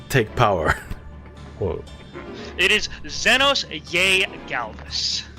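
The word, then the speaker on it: Zenos yae Galvus: be G Galvis because because a usually makes an e sound but this was written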